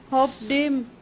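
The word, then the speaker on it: hoped: Pronunciation किस तरह से होगी, ये वर्ब्स जिनको हम पढ़ते हैं, cooked, होप्ड, missed, washed, laughed, washed, तो ये वर्ब्स इस तरह से नहीं प्रोनाउंस किए जाते हैं।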